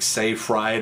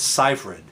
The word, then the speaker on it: Seyfried: It's spelled Seyfried, which sounds like Seyfried or something. It's Seyfried. Amanda Seyfried.